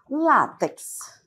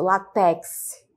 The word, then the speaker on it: látex: Outro exemplo é o látex. Então, a forma correta, adequada, é desta maneira. Mas ouve-se muito látex, né? Látex, colocando a sílaba tônica última, mas a adequada aqui é a penúltima, né?